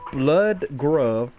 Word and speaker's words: Bludgruv: The author of this mod is Blood Grove, but it's not blood, it would spell the U. I'll spell it out.